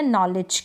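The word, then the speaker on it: knowledge: मैं आपको बता दूंगी तो यहां पर के एन को हम न पढ़ रहे हैं के साइलेंट है एन को प्रोनाउंस कर रहे हैं इन स्पेलिंग्स के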